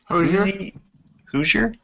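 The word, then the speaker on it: Hozier: parsonfield and arsonist lullabi by whoer hoer it's not spelled like hoser h o z i yes there you go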